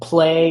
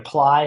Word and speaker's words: Plai: That one's called Play or Ply. It's spelled Okay. PLAI.